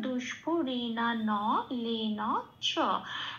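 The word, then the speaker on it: দুষ্পূরেণানলেন চ: তাহলে সেকেন্ড লাইনের সেকেন্ড পার্টের সংস্কৃত উচ্চারণটা হলো দুষ্পরিণা ন লেন চ। প্রত্যেকটা অক্ষর পূর্ণরূপে উচ্চারিত হবে, কোনো হসন্ত নেই, এটুকুনি খেয়াল রাখতে হবে।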